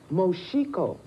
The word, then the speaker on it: Moxico: M O X I O is pronounced Moshiko, and it's a province in a southwest African country between Zambia and the Atlantic Ocean.